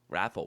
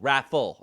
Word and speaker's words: Raffl: Raffle. Raffle.